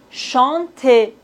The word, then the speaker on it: chanter: Ici, on ne doit pas prononcer le E final. Et maintenant, chanter. Ici, on doit prononcer le E accent aigu.